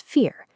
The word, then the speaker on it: vier: In German, the letter V is actually pronounced like the English F. Because of that, four is spoken as vier.